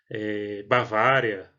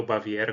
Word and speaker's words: Baviera: pequenos rios alemães com a pronúncia bavária e no sul da alemanha baviera como vocês quiserem dependerá tradução em alemão